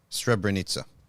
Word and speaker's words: Srebrenica: Srebrenica. The C is pronounced as a Z.